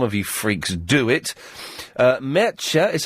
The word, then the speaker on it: Mertxe: Mertxe is how you pronounce that name, M-E-R-T-X-E.